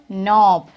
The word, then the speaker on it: knob: And he knocked on the door knob. What is the spelling of knob? What is the spelling of knob? See this? K-N-O-B. So, do we have to write K here or not?